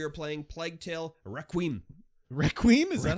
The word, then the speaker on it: Requiem: right now we are playing plague tale Requiem Requiem is that how you pronounce it yes I have decreed that that is wow okay uh we're currently on chapter 11.